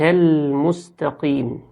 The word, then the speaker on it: المستقيم: تاء، فيقول اهدنا الصراط المستقيم، الصراط المستقيم، وهي الصراط، الصي مش السي، الصراط المستقيم، يجيب السين صاد المستقيم، ويجيب التاء طاء المستقيم. وفي ناس بتوصل للقاف بتاعة المستقيم وتخليها كيم بالكاف، المستقيم.